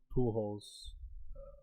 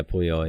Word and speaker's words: Puyol: After that, 1-0 Pujols, Puyol, how do you say his last name? Yeah, Puyol.